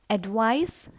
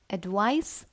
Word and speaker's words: advice: up the next words advice and advise is a slight difference in the pronunciation mind the last sound of these words advice and advise first word